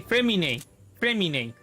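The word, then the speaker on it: Freminet: The T is silent. Nah, not silent. It's like being spelled as Y or I. Okay, Fremine.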